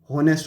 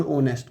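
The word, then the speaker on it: honest: My father is, आ गया ना, होनेस्ट और ओनेस्ट, क्या बोलते हैं, ओनेस्ट, लगाना क्या चाहिए, स्पेलिंग देखकर ए लगाना चाहिए, लेकिन आएगा क्या, एन, क्योंकि एस तो हम बोलते ही नहीं।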